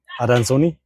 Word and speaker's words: adansoni: it should be the Adansoni. Adansoni. Adansoni. By the way, this is Latin, so you could guess why we are pronouncing the way we are.